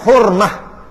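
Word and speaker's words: حرمة: masaha Melayu Kan hormatmat Melayu Panggil hormat Arab Panggil hormah sebab Ta marbutah kalau mati bunyi Ha Ke bunyi ta ta marbutah Yang Ta bulat marbutah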